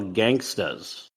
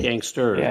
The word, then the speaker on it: Gangstas: And the movie we did not talk about, I got to make sure I pronounce this correctly, Original Gangstas. Not gangsters, but gangstas.